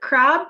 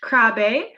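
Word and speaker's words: Krabbe: in the presentation a lot it looks like crab but it is pronounced crabe after the danish neurologist who discovered it over a hundred years ago in 1916.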